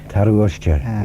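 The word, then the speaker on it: tarroo-ushtey: Have I got my pronunciation right? Taruushti? Taruushti, yes, the water bull.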